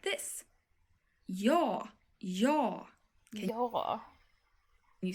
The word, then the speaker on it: ja: And this word in Swedish is pronounced like this. Ja, ja.